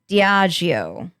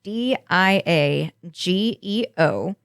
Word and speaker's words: Diageo: like a dream child between skybound entertainment and diago which is how i'm going to say that it's d i a g e o which i can only think of pronouncing it